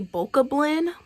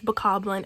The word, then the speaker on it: Bokoblin: And I don't care if you do know what it is and you say Bokoblin, I'm looking at you crazy. It's Bokoblin, it's Moblin, it's Lizalfo.